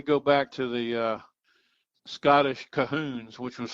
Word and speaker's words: Colquhoun: We go back to the Scottish Cahoons, which was spelled Colquhoun, but pronounced Cahoon.